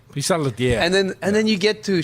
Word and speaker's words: Pissaladière: Pissaladière. Pissaladiera.